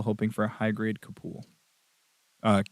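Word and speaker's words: Capule: a kid still hoping for a high grade kapool uh K or c-a-p-u-l-e uh that actually I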